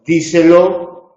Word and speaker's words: díselo: Díselo es esdrújula y lleva acento en di, mientras que di no lleva acento.